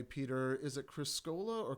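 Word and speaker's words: Criscuola: receipts i see it'll say peter is it criscola or criscoola how would you pronounce that it's actually chris cola criscola okay scroll up that's the the italian pronunciation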